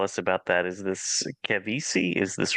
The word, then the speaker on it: Kevysie: Is this Kevysie? Is this right? Did I say that right? Yes. Yes, Kevysie. It's Kevysie.